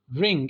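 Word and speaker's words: wring: उसका उल्टा है ये रिंग इसमें डब्लू साइलेंट होता है ठीक है इसका मतलब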